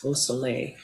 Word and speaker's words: Beausoleil: I wasn't doing a great job at the French pronunciation of your name, Nicole Beausoleil, correct? Correct. Was that right?